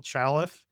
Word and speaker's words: Chaleff: Uh again, our guest today Chaleff. I said that wrong. Chaleff. Chaleff. Yes. I said it right the first time.